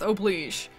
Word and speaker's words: oblige: Non-breath oblige. I think oblige is the French pronunciation and it's what they say in the song, so that's what I'm rolling with, okay?